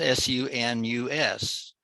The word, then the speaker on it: sunus: form of English, is S-U-N-U-S. It would be pronounced sunus.